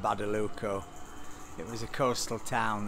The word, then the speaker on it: Badalucco: in a town called badalucia how do you say town called badaluco it was a coastal